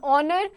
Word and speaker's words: honor: Then words beginning with a silent H take an before them. Examples: an hour, an honest person, an honor.